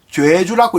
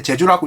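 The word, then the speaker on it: 좨주: 한자로는 제사 지낼 때 제자에다가 주자, 읽기는 조애, 죄주라고 읽는데 제주라고 읽지 않고, 이 제주가 바로 유교의 모든 것을 간장을 하는데 정삼품밖에 되지 않지만 엄청나게 이게 힘이 있는 거예요.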